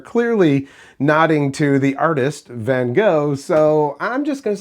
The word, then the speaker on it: Vangoa: I say Van Goa. Uh there's people that are like, "Oh, yeah, no, it's Van Goa because that's how it's spelled."